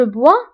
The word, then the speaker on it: bois: Alors, بالنسبه je bois, même si كنكتبوها بS في la terminaison, ولكن ما كنطقوهاش. Je bois S ما كتنطقش. Tu bois ايضا ما كنطقوش S.